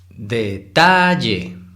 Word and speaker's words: detalle: Si fuera la sílaba tónica en D, se pronunciaría detalle. Y si fuera en la última sílaba en Y, sería detalle. Y no, entonces sabemos identificar que la sílaba tónica es la de en medio, ta.